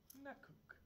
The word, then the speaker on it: Nakuk: Nakuk. Is that correct pronunciation? Yes.